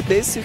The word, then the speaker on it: desu: Oh, thanks, Owen Saga Desu Kappa. Senpai. You don't pronounce the U. Do you not? It's this. Are you sure? Why would they write a U if you don't say it?